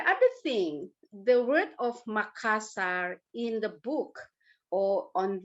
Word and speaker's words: Makassar: very interesting actually but nowadays we call makassar okay let me explain let me explain why it's very hard for foreigners to pronunciate the consonant r look at this linguistically yeah r is the roll consonant where you use your tip of your tongue and roll it to your top of your roof of your mouth